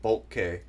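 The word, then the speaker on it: Boelcke: Oh, Thoughtful Pug said his name is pronounced Bulk.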